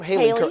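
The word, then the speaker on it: Hailee: Haley? Is that how I pronounce her name? Haley.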